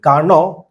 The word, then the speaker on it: Carnot: This is नादी कार्नोव। हम जानते हैं कि फ्रेंच में डी साइलेंट होता है। And this is what? ये आपके जर्मन फिजिसिस्ट है। नादी कार्नॉट मैं कार्नोट ही बोल